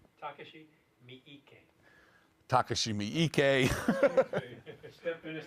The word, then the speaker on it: Takashi Miike: I can't pronounce his name. Miike. Say his name. Takashi Miike. Takashi Miike.